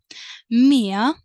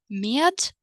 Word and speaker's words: med: Med, with. You might pronounce the consonant D, and if you want to, you can also omit it. Med or med.